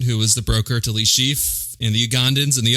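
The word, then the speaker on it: Le Chiffre: as mr white who was the broker to le chief in the ugandans in the opening see i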